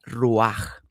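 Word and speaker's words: רוח: Lo primero es que espíritu viene de una palabra hebrea que significa o que se pronuncia ruaj.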